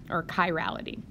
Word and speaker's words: chirality: CH I stands or it comes from Greek the Greek letter Chi and so you would pronounce this Chi Rho Chi Rho okay or chirality okay so to introduce